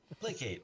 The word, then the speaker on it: placate: Placate rhymes with decapitate.